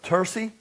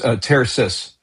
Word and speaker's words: Tersis: Uh he's the CEO chairman of uh Tersy. Is that how you pronounce it? Ters. No, it's Terasus.